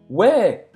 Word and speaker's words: ouais: real falado, eles dizem Ouais. ouais. A gente fala os dois, mas você pode ouvir muito ouais. Que ficaria assim, a pronúncia é como se fosse ouais, assim, tá bom?